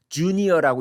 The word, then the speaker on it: JVNIOR: 자, 저거 어떻게 읽어? JVNIO로 이렇게 읽어야 되나? 아닙니다. 주니어라고 읽으면 됩니다. 저기 지금 저렇게 되어 있는데요. 주니어입니다. 주니어.